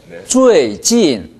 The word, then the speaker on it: 最近: 두 번째 진이 너무 낮은 데서 시작했어요. 最近 이 정도 했는데 사성을 같이 살려보세요. 最近. 자, 선생님 발음을 다시 들어보겠습니다. 最近,最近. 네, 들어보시면 最近 이게 아니라 最近 하고 사성이 똑같이 살아있다는 걸 알 수 있고 경우에 따라서는 진의 강세가 갑니다.